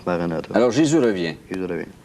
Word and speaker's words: Maranatha: en russe ou en japonais, Maranatha, ça se prononce Maranatha.